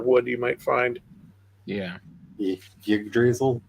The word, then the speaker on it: Yggdrasil: Yggdrasil? Yggdrasil. I know, I say it wrong. Yggdrasil? Yggdrasil. There are a couple, like, technically right ways to say it, and you didn't use any of them.